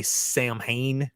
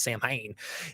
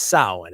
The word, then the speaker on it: Samhain: Now, Samhain, some people say Samhain because they don't know how it's pronounced. Samhain. It's Samhain. And Samhain is an Irish word that extends from a Gaelic festival that celebrates the month of November.